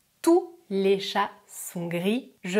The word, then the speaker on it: tous: pas le s et si c'est un pronom règle numéro 2 je prononce le s je répète tout est